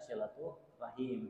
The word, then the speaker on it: silaturahim: Min haisul qiyasi, kalau dari segi tulisan silaturahmi, tapi ketika dilafalkan dibaca silaturahim dalam talaffuznya.